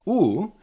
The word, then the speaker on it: ú: Oo is a similar sound to when you say cool or school. So you you need to make this round lips and say really nice crisp. Ooh. It's of course in cool school it's long. You need to make it shorter.